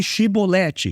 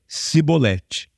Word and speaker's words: chibolete: esse negócio e assim era o efraimita fale chibolete ele fala É simbolete Não simbolete então tô falando simbolete não conseguia pronunciar e era a maneira deles se denunciarem quando eles iam fugindo